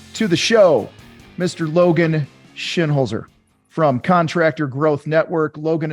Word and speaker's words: Shinholser: differently twice he says shin holser and I've heard Shin Holzer um from your dad Logan shinholder uh it's more of a z Oh it's it's just